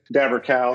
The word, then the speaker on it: Daberkow: I'm I'm I appreciate you uh saying my name correctly I haven't ever been called since I was a little kid I've been Dabber cow since the since I was born I think the kids